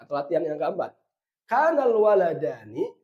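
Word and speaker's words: ولدان: Bukan waladaini bacanya, tapi waladani.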